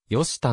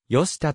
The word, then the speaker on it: 寄田: 振られているよりたの読み方は明治時代中期ごろまでよしたと呼称されており現在でも住民はよしたと呼称する周辺地域からも